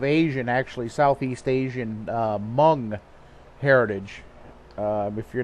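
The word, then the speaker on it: Hmong: actually Southeast Asian uh mung heritage um if you're not familiar with uh with that term mung uh it's spelled h m o n uh they're a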